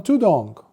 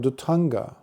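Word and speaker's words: dhutaṅga: And then you see really big fat monks walking around on tudong. Tudong is a mispronunciation of the Pali term Dutanga. Eventually, when it came to Southeast Asia, as in Thailand, it became tudong.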